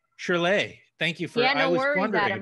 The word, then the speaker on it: Shyrley: Hi, you're Shyrley, I suppose. Hey. How you doing? It's pronounced Shyrley. Shyrley.